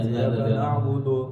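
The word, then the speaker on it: إِيَّاكَ نَعْبُدُ: itu, tidak seperti itu, tapi tengah-tengah kita membacanya, tengah-tengah sesuai dengan itunya. Iyyaka na'budu. Iyyaka na'budu seperti itu. Iyyaka na'budu. Bukan juga terlalu tipis seperti orang Turki baca, bukan juga seperti yang biasanya kita baca.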